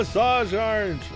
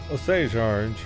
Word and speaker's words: Osage orange: could okay oh yeah hello Asajj George Osage orange I finally looked up what a sage orange was and I didn't know I was saying it wrong looks like a beet